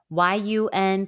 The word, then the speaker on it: 晕: Yun pronunciation is yun.